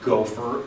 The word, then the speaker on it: gopher: Gopher is a transliteration, which means it's pronounced gopher in the Hebrew, and so we just make some English letters that come together to sound that way.